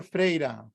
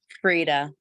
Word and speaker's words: Frida: And that was the question from, is it Frida or Freida? It's Frida. I mean, Okay, it's pronounced yeah.